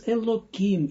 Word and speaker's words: Elokim: But we pronounce it as Elokim in order not to pronounce the holy name in vain.